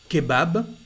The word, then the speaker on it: kebab: Kebab, it's an Arabic word, a sandwich. So here we pronounce the B, and also the word pub.